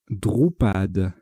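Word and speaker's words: dhrupad: Horizontalement en D6, de façon à mettre un A devant varierait, nous posons, attention à l'orthographe du mot, Drupad.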